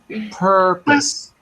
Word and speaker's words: purpose: little different but basically because the second syllable has no stress it's always pronounced like an uh in English all the